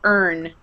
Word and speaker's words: earn: to hear the our earn um good earn earn um it's pronounced the same way as an urn yes like a container